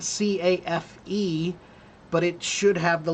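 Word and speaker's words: café: So that means the pronunciation is not cafe, which is the English typical rules, but cafe.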